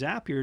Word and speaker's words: Zapier: zap here um is some people call it zapier i call it zapier because they say zap here makes you happier um that's that's their